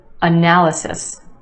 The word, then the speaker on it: analysis: this one analysis analysis four syllables in this word with emphasis on the second syllable the a sound analysis and yes there are two schwas in this word the first syllable and the third analysis analysis do you